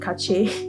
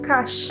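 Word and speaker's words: cache: namely one checking dictionary why do we have dictionary cash oh okay it's cash that's it as you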